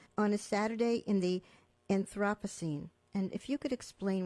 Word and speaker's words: Anthropocene: your own poem, on a Saturday in the Anthropocene. And if you could explain what the Anthropocene era is, if I'm pronouncing it correctly.